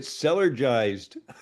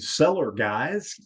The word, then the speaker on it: Cellergized: we could say, and seller guys, go seller guys. I know. We've had a lot of mispronunciations on this word. It's really interesting. But just remember cellar, because we're cellular beings, and then jives.